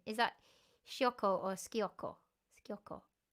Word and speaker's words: sciocco: Is that sciocco or schiocco? Schiocco. S when there's an S in front of the C. CI is ch. When there's an S in front of it, it's sh.